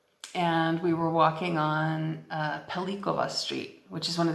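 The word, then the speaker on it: Pellicova: And she said, because it's spelled with a C. So it should be pronounced Pelitsova Street. And like, here's what I know. It's named Pelikova Street after Silvio Pellico, who was imprisoned at Spielberg. And so we would pronounce it with a hard C, because it's the same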